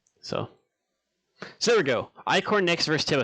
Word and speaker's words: Ichor: that this is ico is it i-cor is that how you pronounce it or is it it core i guess i want to make sure i'm saying that right too icor okay cool oh and also uh